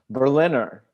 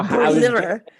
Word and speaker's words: Berliner: How do you say it in German? Berliner. So Berliner. Berliner. What could he have done better? The answer is just intonation.